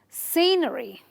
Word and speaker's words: scenery: So you will stress on this, on the syllable before the ERY, and you will say scenery. Scenery. Not scenery, but scenery. Okay? Scenery. Okay? So it's 3 syllables, but you stress on the C.